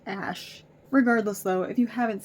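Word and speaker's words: X Æ A-Xii: username looking ass and that's pronounced Ash I found out found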